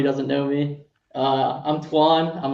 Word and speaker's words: Toine: Over here with it's Toine, right? That's how you pronounce it, or is there? Toine.